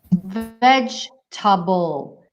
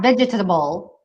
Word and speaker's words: vegetable: of one of them vegetable it's not vegetable it's vegetable vegetable okay three syllable and also we have